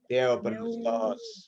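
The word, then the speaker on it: θεόπνευστος: Jadi bacanya Theos, Theo, nggak pakai os. Theo, Theophenustos. Theopneustos.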